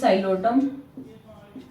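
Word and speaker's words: Psilotum: First is Xylophyta, and the example is Xylotum. P is silent in the Xylota.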